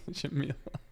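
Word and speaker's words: Schemmel: pronounced Shamil? Shamil.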